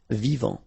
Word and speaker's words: vivant: Final T not pronounced. Vivant.